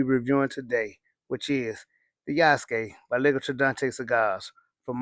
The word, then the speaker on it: Yasuke: Now, notice I said Yasuke. Some people, you might hear them say Yasuke, which I'm not mad at you if you